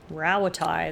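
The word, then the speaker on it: Rauatai: Rawatai, that's how you pronounce it.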